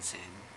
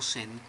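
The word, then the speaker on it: Zen: no no Chan no no puede pronunciar Chan sen sen entonces pronuncian sen Y dogen dice Bueno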